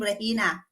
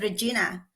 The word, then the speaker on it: Regina: was Chinese and she cannot pronounce my name rehina so but she can said Regina so I become Regina